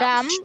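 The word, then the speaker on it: dumb: নির্বোধ স্টুডিয়াস পরুয়া ডাম ডাম নির্বোধ বা বোকা ডাম পিটা সাইলেন্ট থাকে ডাম বলবো না ডাম ডাম স্কিল দক্ষ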